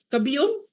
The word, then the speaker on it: Cabiong: Na-pronounce ko ba yung last name mong tama? Cabiong? Yes, ma'am. Tama po.